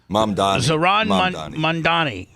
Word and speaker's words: Zohran Mamdani: Zohran Mamdani, and he's a Muslim, and he is now.